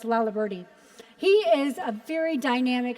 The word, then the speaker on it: Laliberte: name was really intimidating as to how to pronounce. So I'm proud of myself that I actually know it's Laliberte.